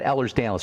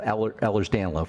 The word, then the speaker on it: Ehlers-Danlos: Okay, let's talk about Ehlers-Danlos. First of all, there's no disease called Ehlers-Danlos. It's Ehlers-Danlos. That's spelled Ehlers-Danlos for the listeners.